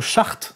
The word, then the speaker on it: Schacht: Et ce qui est intéressant, c'est que ce monsieur qu'on prononce Ajmar Chart, n'est-ce pas ? Enfin, qui s'appelle comme ça, mais ça se prononce Chart, oui. Ajmar Chart, nous raconte, en fait,